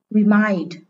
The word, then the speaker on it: remind: Remind. Từ này là động từ có hai âm tiết, nên trọng âm rơi âm tiết số 2.